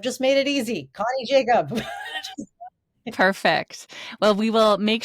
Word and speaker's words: Jakab: My my last name is spelled weird. It's J A K A B. And then that's also all my social handles. I've just made it easy. Connie Jacob.